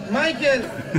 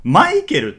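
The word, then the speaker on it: Michael: もたくさんあって例えば英語だとま男性がマイケルで女性がミシェルフランス語は男性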